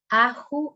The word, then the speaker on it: Ahu: Ahu is the pronunciation.